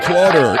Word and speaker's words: Clauder: It is the one and only, the original Clauder. It rhymes with daughter.